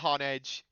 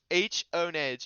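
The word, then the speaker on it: Honedge: It's not hone edge. You're wrong. Honage. Yep. See, there we go. Steelix says that's how they pronounce it in the show.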